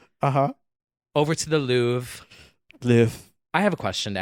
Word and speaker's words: Louvre: Why is Louvre spelled with an R? It's French. That's Louvre? what they do. Yeah, that's what they do. It should be spelled Loove.